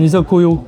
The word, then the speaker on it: izakaya: fait on est en train de faire un izakaya. Japonais avec produits du terroir. C'est super. Ici on dit un isokoyo. Ah c'est vrai? Bah c'est comme ça qu'on prononcerait quoi.